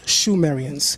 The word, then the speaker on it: Sumerians: I wrote, the name Sumerian is first found in the Akkadian epics, where it is more accurately pronounced Shumerians. Sumerians came into lower Mesopotamia